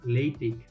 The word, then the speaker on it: LaTeX: পারে, তো একটু অড লাগে, কিন্তু এটার প্রপার উচ্চারণ হবে যে লেটেক্স।